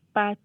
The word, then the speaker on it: pâte: So you translated, they sound almost the same, pot and pat.